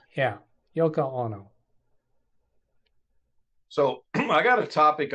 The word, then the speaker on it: Yoko Ono: Yono that's that's the name right the right pronouncing Yoko Yoko Yoko Ono oh no yes yeah John Lennon's Japanese wife